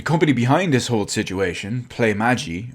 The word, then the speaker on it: Playmaji: behind this whole situation play magi i think that's how you pronounce it at least anyway their